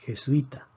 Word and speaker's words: jesuita: hiato jesuita y jesuita aquí tenemos tres sílabas je suis ta vemos que aquí se considera un diptongo puesto que son dos vocales cerradas la palabra termina en vocal predecimos que la fuerza está en la penúltima sílaba si está en la penúltima sílaba entonces no escribimos acentos wyss luis en este